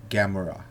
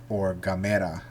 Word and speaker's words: Gamera: or Godzilla discussion and that's Gamora /or Gamera as the Japanese usually pronounce the name and then if I